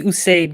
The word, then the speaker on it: Usayd: Usayd, is that a correct pronunciation? It's actually Usayd, guys.